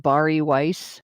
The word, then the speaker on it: Bari Weiss: uh I I think her name is just pronounced Bari Weiss um is it Barry Weiss very very white like Barry White but not quite so deep oh yes but she